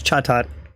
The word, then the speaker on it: Chatot: second CH Chaat card I'll get the pronunciation of this down it's Chaat all right so Chaat